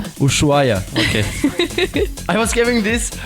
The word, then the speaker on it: Ushuaia: Yeah, how do you pronounce it? Ushuaia? Ushuaia, okay.